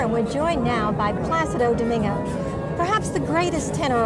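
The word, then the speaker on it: Plácido: people people somehow somehow they have problems with the accent you know they say plasti they said placido you know they don't realize the accident is with the a place you know that's the right way to say that's wonderful okay so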